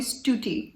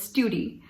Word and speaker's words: Stuti: you know they like they were not able to say stuti so they would call me stuti or studi so sometimes i'm still